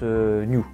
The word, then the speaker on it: Nu: V2 i new oui ça se prononce new Gundam alors pourquoi je vous